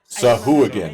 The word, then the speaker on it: Sahuagin: Going to D&D Beyond again to get the pronunciation. I Sahuagin.